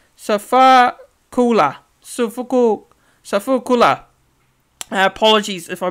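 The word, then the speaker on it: Sifakula: big fella, actually, and that is Demetric Sofika. Sorry, I'll say it again. My apologies. I'll pronounce this. Try my best here. So it's Demetric Sofakula.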